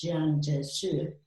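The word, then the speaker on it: Jiang Jieshi: kai-shek but who is now romanized as john joshua which is again closer to the chinese pronunciation sure from 1923 up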